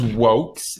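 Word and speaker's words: Vox: Her name is Wokes. It's spelled V-O-X.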